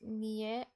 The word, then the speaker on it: nio: Nio and tio are often pronounced nie, tie.